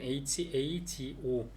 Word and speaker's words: hago: 이제 쓸 때는 hago 아고 이렇게 하는데 읽을 때는 h 묵음시켜서 아고.